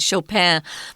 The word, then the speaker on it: Chopin: are wrong yeah so you'll often hear his name pronounced with that kind of French pronunciation where they dropped the end at Chopin but uh we're gonna